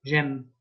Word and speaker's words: j'aime: And Amy sounds a bit like M, like I like, j'aime.